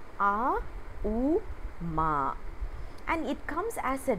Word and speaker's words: Om: om we all know the OM is pronounced in a u Ma and it comes as